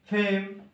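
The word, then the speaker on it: fame: বহুত বিষয় লেগে আচ্ছা এফ এ এম ই ফেম লিখা আচ্ছা ফেম লিখা যদি পুরা ওখানে দাদা ফেম ফেম লিখা কোন মিটার শব্দ কারণ শেষে ই মিনা ইনা সাইলেন্ট মোড থানা না ফেম লিখা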